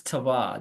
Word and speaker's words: Tevah: Before we get into the goodies, who is Tevah?